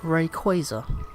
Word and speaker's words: Rayquaza: Rayquaza. is actually pronounced Rayquaza.